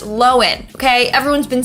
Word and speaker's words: Lohan: have Lindsay Lohan again her last name is pronounced lowen okay everyone's been saying Lohan for years but it was recently revealed that we're wrong it's low end not Lohan anyways the downfall of Lindsay and is actually